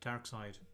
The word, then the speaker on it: Darkseid: David, it took me so many years before I realised his name is pronounced DARKSEID.